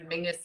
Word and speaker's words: Menzies: that for anybody else mingus is how weirdly the scot dish people um that's that's how they would pronounce menzies i don't understand where the g comes out of it but that's it is